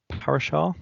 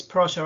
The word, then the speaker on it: Prasha: next question from um parashar sorry if i pronounce that you name wrong about is about the learning center don't you want to say a bit more about that question oh um hi it's prasha i'm from the royal